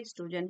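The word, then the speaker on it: oestrogen: तो, जो एस्ट्रोजन है, उसकी स्पेलिंग में ओ भी लगता है। आगे से साइलेंट रहता है। इसको स्पेलिंग इस तरीके से लगते हैं। लेकिन इसको कहते हैं एस्ट्रोजन है।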